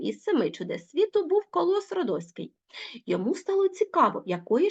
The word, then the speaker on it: Колос Родоський: зрозуміли Ну мабуть той хто знає що таке коло сродоський зрозумів адже Петрик допустив орфоепічну помилку він неправильно наголосив словом Колос Родоський Це статуя яка була